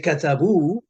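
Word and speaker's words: كتبوا: Arabic fluidly and perfectly you say katabu uh you don't know anything about this silent alif because you don't know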